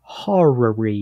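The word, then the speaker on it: horary: we made this episode how do you spell it h o r a r y horrory hary time yeah so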